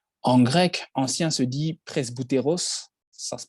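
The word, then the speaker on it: πρεσβύτερος: pas de différence en grec ancien se dit presse bouteros ça se prononce comme ça 13 bouteros c'est de ce mot que vient le mot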